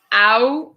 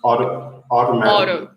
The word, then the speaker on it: automatically: In which case, it sounds more like it has D's instead of T's.